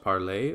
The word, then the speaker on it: parle: I'm having trouble telling apart, for example, par versus parler, or je versus j'ai. Well, I just said it for you there, but E on the end of words in French is often not pronounced, so in the case